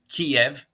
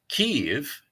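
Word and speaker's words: Kyiv: of that wonderful city so kiev kiev is the russian pronunciation and it's the traditional transliteration of the cyrillic way of writing uh the city in russian and uh kiev is the pronunciation of the ukrainian way of of saying the name and you know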